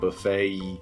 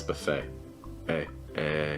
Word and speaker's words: buffet: Yeah, watch out for that A sound at the end because you don't want to tense up too much. It's not buffet. It's buffet. Just like the letter A.